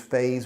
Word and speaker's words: phase: in the implementation phase don't confuse phase with face okay spanish people have problems pronouncing phase because the z that sound you don't have in the spanish language so if you can't